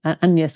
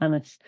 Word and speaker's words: Agnes: my daughter Agnes or it would have been pronounced close to the French anes or Anis and that felt like